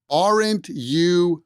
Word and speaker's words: aren't you: very interesting pronunciation sound aren't you going there aren't you going there the t at the end of orint moves over and links with that yah sound and when we combine